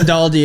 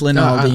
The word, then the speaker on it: Linaldi: not Lindaldi, it's Linaldi.